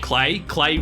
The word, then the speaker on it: Klei: Klei rhymes with play.